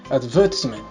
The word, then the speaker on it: advertisement: it is very different it is pronounced with a stress on the second syllable and with a simple sound just like this advertisement let's move on to